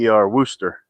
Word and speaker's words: Worcester: It's Wooster. Worcester.